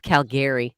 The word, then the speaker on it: Calgary: that say like that where i'm from it's spelt uh so i'm from calgary but it's spelt calgary and you can definitely tell when people are not from calgary because they say calgary i love calgary no it's calgary toronto um uh hey